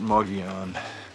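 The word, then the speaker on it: Mogollon: how to say it the native arizona people i know call it mogeon probably has a way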